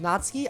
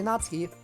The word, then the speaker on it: Natsuki: How do you pronounce Sayori Natsuki? F. Is it Natsuki? I always say Natsuki, but some say Natsuki.